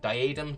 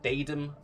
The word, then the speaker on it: diadem: I'm hoping to get devouring diadem devouring Baden panty both pronunciations are correct by the way as people got